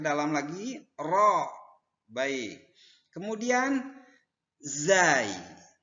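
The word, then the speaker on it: زاي: Kemudian zai. Penyebutan huruf zai seperti Anda menyebutkan huruf z.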